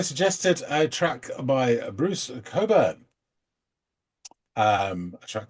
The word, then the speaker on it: Cockburn: a track by Bruce Coburn um a track called Lona and it's it is written cockburn but it is pronounced Coburn and British viewers will